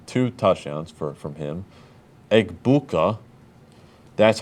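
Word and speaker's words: Egbuka: Eggbuka, that's how how you say it, Grankon.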